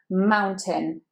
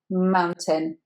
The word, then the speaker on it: mountain: Mountain. So it's ow, like the diphthong that is in cow and frown, and then just tin, again the I, mountain.